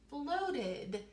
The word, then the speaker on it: floated: Very good, and this time it says floated. So we hear that id sound at the end.